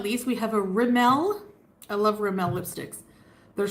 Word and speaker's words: Rimmel: babe in here he's probably busy working it's pronounced Rimmel working which means he's with the first wife